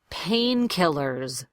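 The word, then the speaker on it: painkillers: practice moving on to pain killers s at the end is a Z pain killers now in English probably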